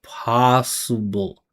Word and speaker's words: possible: Listen to the vibration here. Possible. You hear thewah s. That moment of neutralness. Listen. possible. Not possible. Vibration.